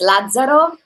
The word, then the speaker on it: Lazzaro: It's Lazzaro. It's like Lazarus in English.